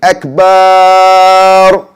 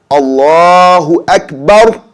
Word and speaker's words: Allahu Akbar: Another way, we got adding a med to Akbar and saying Akbar. That's also wrong. That actually means saying Allah is drums. Okay? So the right way to say it is Allahu Akbar. So you don't hold the bar sound. It's a short bar.